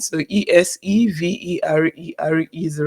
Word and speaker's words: Eseverere: So is it essay verere? Eseverere. Okay, I tell people let's make Eseverere. it simpler. Just assume that the last RE is silent.